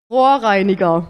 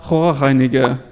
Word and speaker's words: Rohreiniger: Although I got to say, in recent months Liam has demonstrated that he is capable of producing a uvular like in this example. Rohreiniger. Rohreiniger.